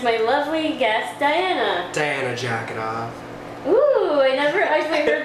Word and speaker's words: Dzhaketov: It's It's Russian spelling, so it's D H A K E T O V, but